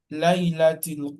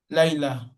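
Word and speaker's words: ليلة: Layla. Layla. This show that we are stopping at the end. Then with the I did not pronounce it as Laylat. Is it Laylat? No, but it is Layla.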